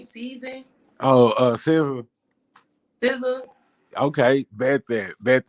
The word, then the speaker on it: SZA: Oh, SZA.